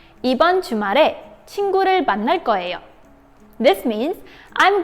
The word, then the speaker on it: 친구: The most common way to say it is 친구.